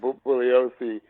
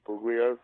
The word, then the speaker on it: Bugliosi: And Bugliosi was furious if people would use the hard G, if they called him Bugliosi, or everybody mispronounces his name, but it's a soft G.